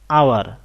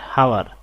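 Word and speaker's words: hour: I have made an আওয়ার late, এখানে উচ্চারণটা হলো আওয়ার নট হাওয়ার, আওয়ার, একটা ভাওয়েল সাউন্ড আসছে, এই কারণে আমরা বসিয়েছি এন।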